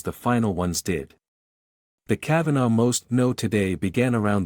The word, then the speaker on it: Cavanaugh: A man named Kavanaugh, pronounced the same as Judge Kavanaugh, was the star ATF negotiator early on.